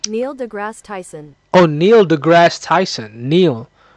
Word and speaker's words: Neil deGrasse Tyson: I'm going just search up nailgrass Tyson. Is that how is that is that how you spell pronounce his name? Is that how you pronounce his name? Neil deGrasse Tyson.